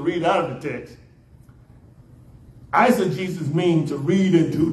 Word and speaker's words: eisegesis: determine the meaning now there's another word called I said Jesus this word answer Jesus is spelled e-i-s-e-g-e-s-i-s again I said Jesus e i s e g e s i